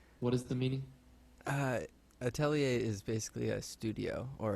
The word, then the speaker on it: atelier: to pronounce it but so when it's singular we say Atelier but when it's plural we actually say the at'll ears yes we were yeah